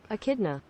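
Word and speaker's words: echidna: say it a kidna you do want to stress on the second syllable a n uh both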